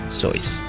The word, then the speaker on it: Seuss: It was at Dartmouth that he started using the pen name Seuss, pronounced like his mother's maiden name.